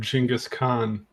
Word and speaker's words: Genghis Khan: Except for that best in life part was stolen from Genghis Khan. Yeah. Thank you. Yes, that is the correct pronunciation.